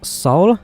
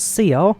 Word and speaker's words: Seoul: position so we are currently at Soul not seal so as I kept pronouncing Soul which is Romeo kilo